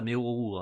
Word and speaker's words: Meruru: je prononce ça Meruru, hein, ça revient au même. Je vais pas prononcer ça avec en roulant le R.